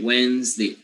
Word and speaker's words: Wednesday: it's wednesday okay wednesday it's not wednesday with the tense e so some people see that in the dictionary and some people make a mistake of pronouncing the the tense e at the end and that is not that is not the way it should be a or it should be